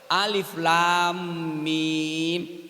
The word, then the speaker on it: Alif Lam Mim: Alif lam mim. Ini alfil apa bacanya?